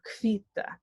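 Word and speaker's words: hvíta: H and V makes a KV sound, kv. So kvita, meaning white.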